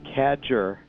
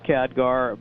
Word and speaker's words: Khadgar: catcher that's another thing the mispronunciation I always said catcher because that actually kad ger could be a just sound and so I know his name officially is Khadgar but I keep wanting